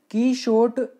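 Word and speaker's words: Quichotte: कीशोट इसको कीशोट प्रोनाउंसिएशन करते हैं।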